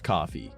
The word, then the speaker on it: Ko-fi: I know it's coffee, but Ko-Fi, because like lo-fi and hi-fi, it's spelled the same, but with a K, so it's Ko-Fi.